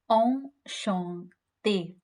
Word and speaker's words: enchanté: But the pronunciation remains the same. So we say enchanté, nice to meet you, enchanté.